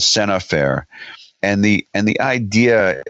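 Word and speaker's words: scènes à faire: something called the the sin affair sin affair is it's it's spelled scenes as Enes than the word then the letter a then fair FAI re it's called Sena fair and the and the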